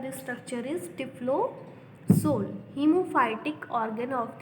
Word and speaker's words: typhlosol: Spiral और scroll wall present है, जिसको हम टिफ्लोसोल भी कहते हैं। इट is also called as टिफ्लोसोल। TYPHLOSOL, ठीक है स्टूडेंट्स, स्पेलिंग आप देख लेना। TYPHLOSOL, टिफ्लोसोल।